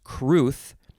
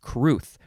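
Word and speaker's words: crwth: r w t h w isn't usually a vowel but in this case it is uh this this is one of those fun welsh words c-r-w-t-h is pronounced cruth noun from 1793 and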